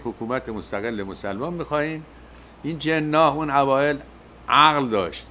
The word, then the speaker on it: جناح: این جناح اون اوائل عقل داشت، یکی میگم جناح با تشدید، این تلفظ هندی هاست.